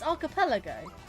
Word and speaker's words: archipelago: It's like archive and archipelago. A lot of people get to I don't know why but a lot of people struggle with that word. It's archipelago.